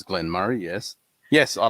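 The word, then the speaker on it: Glen Moray: M Glenn Murray or Glen Murr the way SP m o r a y the way it's spelled Glenn M and the way that's meant to be said which is stupid is Glenn Murray yes yes I like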